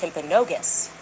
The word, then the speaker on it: Timpanogos: I'm told actually it's pronounced Timpanogos, okay?